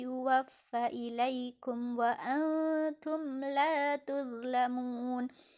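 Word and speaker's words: تُظْلَمُونَ: Khairi yuwaffa ilaikum wa antum la tuzlamun. Tuzlamun, zo di sini tidak boleh dibaca tutlamun.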